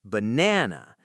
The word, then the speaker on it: banana: It's banana. The middle is strong. The outsides are weak.